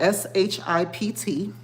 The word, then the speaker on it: Shipt: It's spelled SHIPT. I know it's backwards for you guys, but it's Shipt.